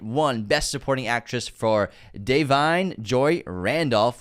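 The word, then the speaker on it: Da'Vine: On 5 Academy Award nominations, it won Best Supporting Actress for Deveney Joy Randolph, which is how you pronounce her name according to Wikipedia.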